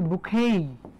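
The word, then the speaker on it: bouquet: বুকেট কি নাম বুকেট আপনি যদি ইউকের উচ্চারণ শুনতে চান তাহলে ইউকের উচ্চারণ হচ্ছে বুকেই বুকে হ্যা এই বুকেট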